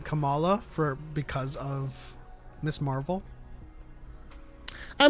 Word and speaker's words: Kamala: I mean, we just came off of a whole election, and people couldn't say Kamala, Yeah. Kamala. Like it's weird. A lot of people were saying Kamala because of Miss Marvel.